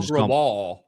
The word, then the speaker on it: Grewal: Paul Grewal. Paul Grewal. Yeah, I remember because it sounds like Paul Wall.